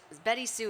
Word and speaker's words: BettySoo: Or BettySoo. Or Yeah. Betty Sue, Yeah. exactly. Yeah. It's just that at the very last second, my dad apparently decided to spell it differently.